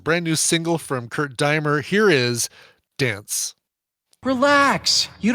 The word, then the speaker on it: Deimer: Deimer. I think if it's German, you pronounce I, so it'd be Kurt Deimer. Like Daimler Chrysler, kind of like that.